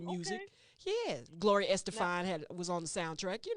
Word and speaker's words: Estefan: Yeah, Gloria Now, Estefan was on the soundtrack. You know, Gloria Estefan. Estefan. That's how you got to say her name.